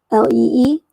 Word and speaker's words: Lie: So you have Lee, Li, and Lie. And even though it's Lie, it's pronounced Lee, but it's also the English word for lie.